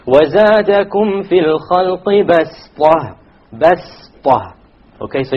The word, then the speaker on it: بَسْطَةً: If you did, it's not a mistake, but it is preferred to say وَزَادَكُمْ فِي الْخَلْقِ بَسْطَةً. بَسْطَةً. Okay, so you don't pronounce it as a sad, you pronounce it as a sin, even though it is written as a sad.